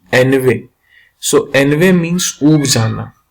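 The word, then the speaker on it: ennui: So, my friend, this is not Inui. This is Enve. What is the correct pronunciation? Enve.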